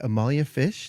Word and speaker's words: Amalia Fisch: So, we have with us today, of course, our co-host Tim, our special guest today, Amalia Fish. Did I pronounce that correctly?